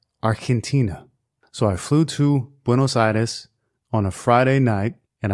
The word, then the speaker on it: Buenos Aires: today's show winnow surveys in Spanish it is pronounced window situs Argentina so I flew to bueno situs on a Friday night and I returned on